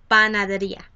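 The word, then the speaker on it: panadería: in spanish is la panaderia your accent is going to be over the last um the second to last syllable the ri so you're not gonna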